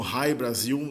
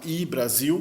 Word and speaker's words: Hy-Brasil: Alguns pronunciam como High Brasil, da maneira como se fosse em inglês, mas como é irlandês eu acho que não é High, acho que é I. Essa palavra I-Brasil, que também pode ser grafada como UI-Brasil.